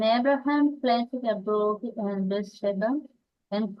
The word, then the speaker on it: Beersheba: And remember, in English, often the emphasis is brought forward. So it's not Beersheba, it's Beersheba. No, sorry, it's Beersheba.